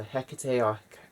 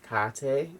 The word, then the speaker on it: Hecate: we have hekate here so hecate carte different pronunciations of the same deity so hecate she if